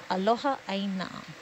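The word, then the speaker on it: aloha ʻāina: So aloha, A-L-O-H-A, and then aina, there's a okina in front of the A, a kahako over the A, which elongates the vowel, I-N-A, aloha aina.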